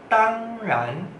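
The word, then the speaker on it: 当然: Tang ran, tang ran, nada satu dengan nada dua. Tang ran, tang ran. Coba sekali lagi. Tang ran, tang ran.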